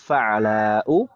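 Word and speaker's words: فعلاء: Jadi huruf pertamanya fathah, kemudian huruf keduanya sukun, huruf ketiganya fathah panjang.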